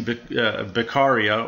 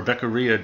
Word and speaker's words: Beccaria: It's a possibly arbitrary standard, however, And it's one that we'll see Beccaria, or Beccaria, depending on how you pronounce his name, which version of Italian you follow.